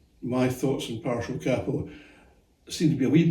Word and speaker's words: capo: Now you've probably noticed that I'm pronouncing the word capo rather than capo. Now, I fully understand why people pronounce the word capo. I mean, there's only one P in it, and in English you need two P's to make it capo, so I guess it's capo.